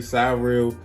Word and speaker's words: Cyrill: got a case from surreal that's how i pronounce it guys surreal you could say sorry real whatever but i'm gonna say surreal it just sounds better um they have a